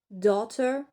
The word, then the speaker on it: daughter: On prononce pas le GH. Donc c'est la règle générale. Donut, daughter, pareil, vous avez quelques exceptions comme tough.